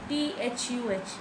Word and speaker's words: the: When THE comes before a consonant sound, it is pronounced as the. THUH is the pronunciation.